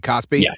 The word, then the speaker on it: KOSPI: I was looking at I was going through X last night on my phone and Kosby, is that how you say it, right? Cosby. Yeah, the Korean. Oh, dude.